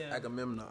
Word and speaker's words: Agamemnon: Agamemnon. Legendary king of I can't pronounce that word.